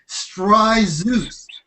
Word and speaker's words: Stryzus: His name is Stryzus. Like you guys remember mythology? There's some god named Zeus, whatever. So just think of Zeus when you think of Vic.